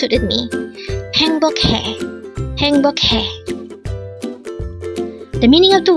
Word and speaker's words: 행복해: Again, that's three syllables for HAENGBOKHAE.